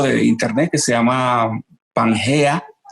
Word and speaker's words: Pangea: internet que se llama pangea o como se dice panchía pero se escribe con g perfecto ya sabes y